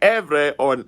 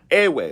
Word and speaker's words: Ewe: So in this article, it says, as I pointed out in the previous article, the proper pronunciation of the name of my people is Erverh and not Ewe, right?